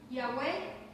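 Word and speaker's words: Yahweh: el significado de esta palabra Jehová que algunos lo traducen como yahwe o yah incluso yah hay diferentes formas de pronunciarlo así que nosotros no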